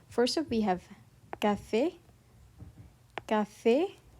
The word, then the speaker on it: café: Here we have a sharp E, café, and then here we have an open E, mère, mère.